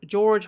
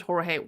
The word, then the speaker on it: Jorge: Well, Sarah Boone says that it's George. The court said it is George, so that's why I'm saying George. But I've heard that his pronunciation from his family may be Jorge. But that one I've deep dived, and it seems to be George. That's what she called him.